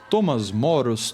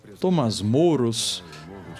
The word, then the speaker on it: Thomas More: Por um cara chamado Thomas More, tá? Você vai achar várias pessoas aí falando o nome de diversas pronúncias. Thomas Moros, Thomas More, Thomas Moros. Tá, eu vou adotar o Thomas More.